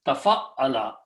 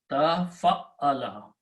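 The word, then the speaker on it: تَفَعَّلَ: It is pronounced as Tafa'ala. Tafa'ala. Tafa'ala.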